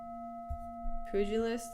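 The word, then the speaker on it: pugilist: Pujilist, it's pronounced.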